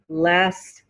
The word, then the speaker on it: last: flew in last night he didn't hear the t at the end of last he flew in last night the t falls away when it comes between two other consonants at the end of